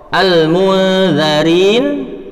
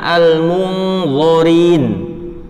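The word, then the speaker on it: الْمُنْذَرِينَ: Kemudian perubahan antara zal tetapi dibaca lo. Contoh, al-munzarin tetapi dibacanya al-munzorin. Za sama lo beda sehingga itu merubah arti.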